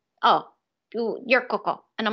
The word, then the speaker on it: Coco: And she's like, oh, you're Coco. And I'm like, oh, okay. So like Coco Chanel. That's what I always tell people. Like that's how you say my name.